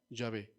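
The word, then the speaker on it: Yahweh: de los tiempos hermanos los estudiosos han afirmado que posiblemente la la forma más cercana para pronunciar el nombre de Dios es llave pero es posiblemente posiblemente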